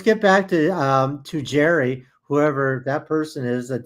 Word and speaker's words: Gerry: It's not Gary, it's Jerry.